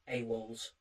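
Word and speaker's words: AWOLz: So, it's AWOL in all caps, a W l and then a lowercase zed. A walls, which is cool.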